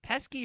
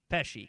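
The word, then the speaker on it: Pesci: Is Joe, is it Pesky or Pesky? Peshi. Peshi. Joe Peshi.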